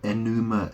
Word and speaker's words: Enuma: Well, enema is spelled E-N-E-M-A, but it sounds like enuma, enema elish, or elis, right?